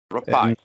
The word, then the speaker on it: Rapaille: Rapaille, like apple pie.